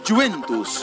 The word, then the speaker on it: Juventus: Juventus, ¿está bien pronunciado, Mr. G? Sí. Juventus.